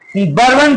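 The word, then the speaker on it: Bourbon: बर्बन dynasty जिसका हिंदी में pronunciation बुरबो वंश के रूप में होता है। हिंदी के किताबों में देखिएगा तो लिखा रहता है बुरबो वंश तो इंग्लिश का प्रोनाउंसिएशन आपको हम बोल रहे थे बर्बन डायनेस्टी के रूप में हम लोग प्रोनाउंस करते हैं इंग्लिश में तो बर्बन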